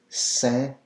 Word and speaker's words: Saint: Saint Bernard, well, here in French, le Saint. So you're not pronouncing the T. Anytime you'll see Saint in French, it's always Saint. The T is silent.